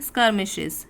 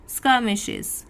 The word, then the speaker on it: skirmishes: तो उसको हम इंग्लिश के एक वर्ड में बोलते हैं skirmishes। प्रोनाउंस कैसे करेंगे इस वर्ड को, ध्यान दीजिए, skirmishes, skirmishes।